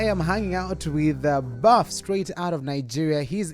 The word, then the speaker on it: 6uff: talk about your name it is not really spelled as buff but it is pronounced as buff you know the first